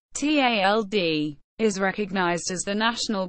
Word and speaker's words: tjaldur: For this reason, the tjaldur, pronounced tald, is recognized as the national bird of the Faroes.